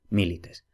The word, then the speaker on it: milites: en consonante y luego si la penúltima sílaba es breve entonces la palabra es esdrújula entonces así tenemos por ejemplo milites tenemos la penúltima que es lee pero como esa y es breve y la sílaba no es trabada entonces esa sílaba es breve por consiguiente el acento sea retrotrae a la sílaba anterior milites en fin como digo